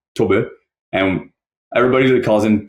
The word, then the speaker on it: Tob: team yeah well to his name is written t o b and we pronounce this to and everybody calls him Toby because like that's what